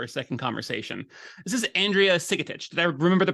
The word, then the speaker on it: Andrea Sigetich: back on for a second conversation this is Andrea sikitic did I remember the pronunciation right that's you did it beautifully yes